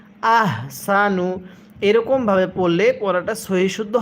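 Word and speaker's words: أَحْسَنُ: এখানে এই হাগুলো উচ্চারণ করার সময় মুখ দিয়ে হালকা আওয়াজ করি। আহসানু এরকমভাবে পড়লে পড়াটা সহিহ শুদ্ধ হবে না।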